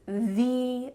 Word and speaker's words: the: So you could say, "This is th-ee best lesson," or you could say, "This is th-ee lesson."